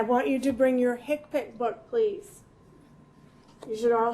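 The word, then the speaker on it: HCPCS: you to bring your hipic book please you should all have a hipi book do you do you all have a hipic book no no okay so it's that's how it's spelled HC PCS that's the book that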